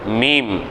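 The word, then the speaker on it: ميم: அடுத்து மீம் மீம் மீம், இரு உதடுகளையும் சேர்த்து உச்சரிப்பது, சரிங்களா?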